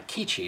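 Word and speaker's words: QIDI: Now, the printer that you see in that segment is called a Shadow Point 5S by Kichi. That's spelled Q-I-D-I, and they're known for their filament printers.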